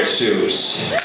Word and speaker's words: Seuss: my middle name and while my family may pronounce it so rhyming with voice rather than rhyming with goose you my dear friends may all call me Dr Seuss so remember we've got